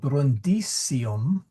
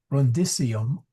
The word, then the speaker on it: Brundisium: So brundisium sorry yeah brisium short I excuse me. See even I leak out with English. Brundium opidum est.